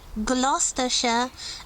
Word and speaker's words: Gloucestershire: Again, don't read all the letters. The proper way of pronouncing this name is Gloucestershire, and the cathedral city that gave its name to the county is Gloucester.